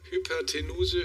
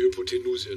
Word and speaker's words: Hypotenuse: Oh, ich dachte, es kommt Rechtschreibung, aber es ist sogar Aussprache. Hypertenuse, Hypotenuse oder Hypotenose. Das ist... Hyper. Ja, das ist easy. Kann ich mich noch gut dran erinnern. Die Hypotenuse, ne?